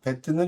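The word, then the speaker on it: בית: 배트는 이렇게 생겼고, 읽을 때는 배트라고 읽어요.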